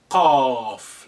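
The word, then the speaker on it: ق: The next in the family, slightly deeper than the fa, so you have two dots on top of it, and that's a cough, like in the coffee, coming back from the when you say it like a mouth slightly open, cough.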